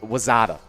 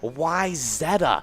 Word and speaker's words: Wayzata: here okay uh was wazada wazada okay well that is actually how it's normally mispronounced uh wayzata is usually the mispronunciation the actual pronunciation is why zetta uh totally acceptable to